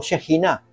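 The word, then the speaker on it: שכינה: la gloria de Jehová o Shajiná es la pronunciación en hebreo.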